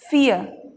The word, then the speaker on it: fear: बोलना है नियर, FEAR, फियर। समझ में आ रहा है, आर को साइलेंट रखना है।